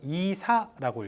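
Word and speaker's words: عيسى: 그걸 이사라고 읽어요. 이사 간다 할 때 그 이사.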